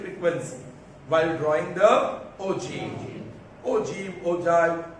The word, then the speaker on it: ogive: Ogive, Ojai. My teacher used to pronounce Ojai, but actual pronunciation is ogive.